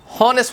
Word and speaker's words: honest: इस्तेमाल कर ले दे एन ऑनेस्ट दलता बिया एच साइलेंट ते नुमंग honest होनो होगा ना honest